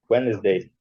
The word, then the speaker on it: Wednesday: Whens, o D é mudo, né? O D é mudo. Whens. O E é mudo. Tá vendo aí, Girlane? Girlane tá online? Sim, Cláudio. Wednesday.